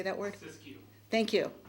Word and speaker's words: Siskiyou: Siskiyou.